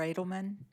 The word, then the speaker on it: Adelman: Adelman Adelman Mr Adelman yes am I pronouncing your name correctly yes you are okay my academic title